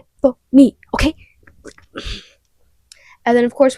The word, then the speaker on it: Persephone: new class and then my teacher is like persophone or if I'm at the doctor and they're like pers. It's not how you say it. It's not how you say it. It's pony.